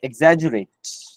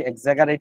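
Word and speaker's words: exaggerate: মূলত হচ্ছে বানানো হচ্ছে এক্সাজুরেট এই বানানটা দেখে এক্সাজারেট বা এই টাইপের কিছু মনে হইতে পারে এটার উচ্চারণ হচ্ছে এক্সাজুরেট এক্সাজুরেট মানে হচ্ছে কোন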